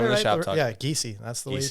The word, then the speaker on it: Giesey: Yeah, Giesey. That's the way you pronounce it.